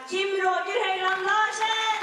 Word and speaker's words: Kim Roger Høyland Larsen: From Norway, we have Kim Roger Høyland Larsen. That's how you pronounce it.